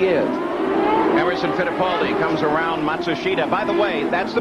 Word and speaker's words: Matsushita: Emerson Fittipaldi comes around Matsushita. By the way, that's the pronunciation that now Hero himself has asked all the announcers to use.